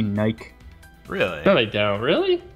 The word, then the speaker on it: Nike: uh British people pronounce Nike Nike really no they don't really they they pronounce it Nike what tur and they actually think that it's true because you pronounce bike like that so it's like oh